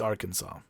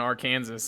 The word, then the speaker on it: Arkansas: like junior high and somebody was like it's arkansas and i was like whoa you know it's funny how everyone pronounces it kansas and our kansas and never arkansas and kansas consol can sauce